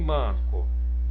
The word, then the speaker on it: manco: E em manco? Manco, manco. Olha, em manco, a sílaba tônica é o man.